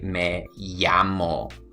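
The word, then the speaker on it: me llamo: is you can say may-yammo you see that's me yeah mo okay so anytime you see the Double L right over there okay don't say Mel ah mo say in a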